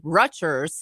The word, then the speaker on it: Rutgers: More recently, Rutgers University faced backlash for canceling a graduation speaker over pro-Palestinian. You had a soft G instead of a hard G. Rutgers. You said Rutgers.